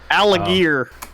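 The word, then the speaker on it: Allgeier: Tyler like you know Tyler algae or as actually pronounced alligir also alligator some some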